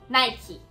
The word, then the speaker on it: Nike: Então a marca Nike na gringa é pronunciada assim, Nike.